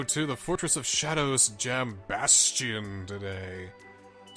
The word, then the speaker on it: Jambastion: We're gonna go to the Fortress of Shadows Jambastion today.